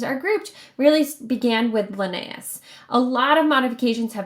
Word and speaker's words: Linnaeus: I'm thinking is how you say that name, Linnaeus.